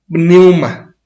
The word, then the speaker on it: pneuma: Pneuma, con P al principio, pneuma. Y pneuma significa viento o soplo. Uh-huh. Espíritu. Uh-huh. Un espíritu es pneuma. Y hay ángeles que se les llama también pneuma.